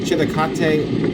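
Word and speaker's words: Chillicothe: We were heading down there for conclave and we were on interstate 71 south in outside of um chil chilate Ohio that's how you pronounce it.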